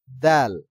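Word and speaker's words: د: দাল দাল উচ্চারণ হয়েছে তো দাল আর দদের ভিতরে আমাদের পার্থক্য হলো দাল উচ্চারণের সময় কি হবে পাতলা উচ্চারণ হবে আর দ উচ্চারণের সময় একটু মোটা উচ্চারণ হবে তদ দাল তাল তদ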